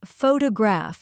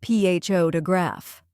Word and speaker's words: photograph: For example, some learners say photograph instead of photograph.